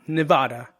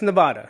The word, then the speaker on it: Nevada: standing there it says locals say niv dash ah da nevada nevada not ah i said it wrong not it's not nevada it's nevada sounds weird right you try it nevada